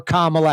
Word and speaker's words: Kamala: That's enough to swing the election to Donald Trump or Kamala Harris. Kamala. Still folks mispronouncing a presidential candidate's name to this day.